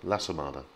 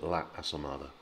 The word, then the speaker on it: La Asomada: And actually what happens in practice is that everyone rolls the two syllables into each other. So it just becomes La Asomada, La Asomada, as opposed to La Asomada.